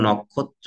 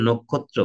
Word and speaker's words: নক্ষত্র: ছিল আমি বলছি যে এই ন এর সাথে একটা অ আছে এটা তোমাদের জানা ন কিন্তু আমরা নক্ষত্র না বলে নক্ষত্র বলছি যদিও বলছি মানে